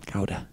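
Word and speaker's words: Gouda: think that' be right guda no not guda ga ga ga GAA that's how John pronounces it that was how yeah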